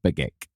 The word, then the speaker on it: Begich: Is that you pronounce it? Nick Begich? Mark Begich. It is Begich.